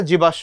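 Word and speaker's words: জীবাশ্ম: এটা কি জীবাসম জীবাস্য উচ্চারণটা জীবাস্য ওই যে বললাম ম সাইলেন্ট থাকবে ম যেহেতু সাইলেন্ট বলবে আমার খাবারটা আমি খেলাম না তুই খা তখন তালেবস্যটা দুইবার হবে জীবাস্য জীবাস্য হচ্ছে ফসিল মানে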